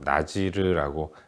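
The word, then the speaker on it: נזיר: 나실인이라는 것은 히브리어로 나지르라고 발음하는 단어인데 성별하다, 거룩하게 구별하다 이런 의미를 담고 있습니다.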